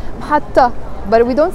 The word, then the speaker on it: محطة: It has a T مربوطة in the end. It's a T that we don't pronounce محطة, but we don't say محطت.